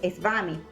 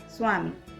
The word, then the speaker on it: Swami: No decimos Svami, decimos Swami.